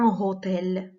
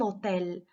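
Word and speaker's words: hôtel: اش، اش مي هنا ما كتنطقش، ما كنقولوش ان هوتيل، ان هوتيل نو اون دي ان اوتيل، ان اوتيل كنقولوا لو الاوتيل.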